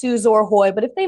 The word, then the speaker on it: Suzor-Hoy: and it's like it's suzor Hoy like and I was like it's spell or Hoy yes yes and a lot of things are spelled with an o r and they're pronounced ER I get it that's